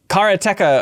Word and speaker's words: Karateka: of this episode please uh the making of karateca of course don't pronounce it any other way um a game